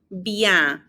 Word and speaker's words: bien: And then notice that the ES ending has an A sound. And so it's très bien. We're not pronouncing the N on bien either. It kind of gets muffled, like you're about to do the N sound, but you don't.